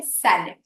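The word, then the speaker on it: salad: पर उससे पहले है सैलेड अब ये शब्द तो हम सभी ने सुना है सिर्फ इसके उच्चारण पे हमें ध्यान देना है सैलेड स मतलब जैसे के बट बी बट तो वैसे है स स अब सैलेड ज्यादा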